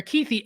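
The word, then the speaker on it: Kuithe: his name I apologize I think it's keithy and I don't know why I just said couth but keithy being the Titan they have number 80.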